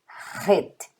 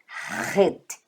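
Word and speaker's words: חית: Gente, a próxima letra do alfabeto hebraico é o Het. Aí sim, este aqui, ele tem um som bem gutural mesmo. Het. Het. Tá? Então ele é um H forte.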